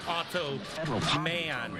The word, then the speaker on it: Automan: Sometimes they call him Otto Man. He has the money with him. In cash. 15 million? But it's spelled A-U-T-O. Biggest bust in history. Not O-T-T-O.